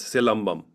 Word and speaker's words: Silambam: Is it Silambam? Yes, silambam. So Yes. you can break it into two words, silam and bum.